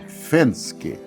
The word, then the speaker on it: Venzke: Clausane Fensk zel Fenske. Eh, o V, o, o V, na verdade, né, na língua alemã tem a pronúncia do F, assim como o Fort